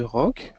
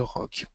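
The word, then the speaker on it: roque: Donc, le rock, ça s'écrit donc R-O-Q-U-E. Nous avons deux types de rock, le petit rock et le grand rock.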